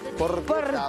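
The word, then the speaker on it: porchetta: Porqueta. Porqueta. ¿Sí? Por, se escribe porcheta. Porcheta. ¿Eh? Pero se lee porqueta.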